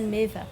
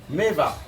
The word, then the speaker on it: Meva: Je m'appelle Meva. Meva. D'accord, hein, Chloé, Meva, c'est comme Maeva, mais on enlève le A.